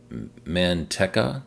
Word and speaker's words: Manteca: But you can see there's also this 10-stall station in Manteca, California, I believe is how it's pronounced.